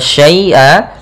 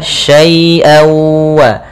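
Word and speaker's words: شَيْـًٔا: Kemudian syai'aw, pada lafal syai'a lembutkan ya-nya, jangan sampai putus, jangan syai'a, tapi dia syai'aw, jangan ada pantulan. Tapi dia syai'awa.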